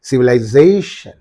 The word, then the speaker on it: civilization: it application right so civilization is there but you cut the word into civil syllables civilization so where is the uh suffix in this syllable what is the syllable preceding the suffix this one so it receives the uh what that this receives the accent okay you have to say civilization so something like that